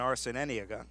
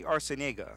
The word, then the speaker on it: Arciniega: taking that throw and arson any ago able to get back in Eddie Arciniega we are told as a correct pronunciation so we'll make sure